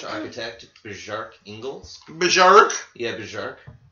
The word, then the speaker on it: Bjarke: Yeah, Bjarke. I think he would pronounce the B. Right? Bjarke pronounces it, so yeah, Bjarke. But it's probably Bark.